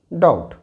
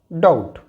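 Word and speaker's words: doubt: date ट इन the same way इट इज डाउट डाउट न प साइलेंट जब प साइलेंट हो तो देखिए यहां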